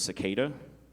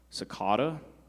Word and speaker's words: cicada: Shaf, this word has several pronunciations. The first is cicada, cicada, cicada, or cicada.